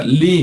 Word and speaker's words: ley: municipios que acaban con la palabra ley, nada más que en inglés se pronuncia Lee, ¿no?